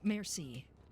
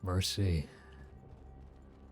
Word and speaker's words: merci: How do you say merci? Why are you asking us? How do you say thank you in French? Ain't that it? Merci. Merci. Merci. Like a female horse in the ocean.